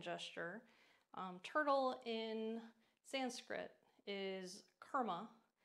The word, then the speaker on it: Kurma: Turtle in Sanskrit is Kurma. So think of karma, but instead of K-A, it's spelled K-U, so Kurma.